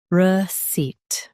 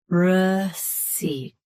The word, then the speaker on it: receipt: Receipt. Both US and UK have the same pronunciation of this word. Stress seat. Keep re soft and quick. Receipt. Receipt. Stress seat. Keep re soft and quick.